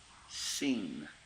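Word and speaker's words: שׂין: Seen. The S. Seen. You could think of it as a scene in a play.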